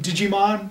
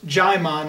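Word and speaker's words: Djimon: I always thought of calling him Digimon because it's kind of similar spelling, but it's Jaimon. I guess the D is silent.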